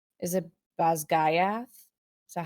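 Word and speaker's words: Basgiath: audiobook, it's pronounced Basquiat. Okay. However, it is a Gallic word, Scottish Gallic, not Irish Gaelic. Right. Mhm. And I believe, don't quote me on this because I've only seen like a girl explaining the pronunciations of it, but I believe she said it's like Basquiat Okay. or something close.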